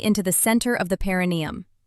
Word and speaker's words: perineum: It's in a slightly hidden, often neglected area, the paranium. Often mispronounced paranneeium.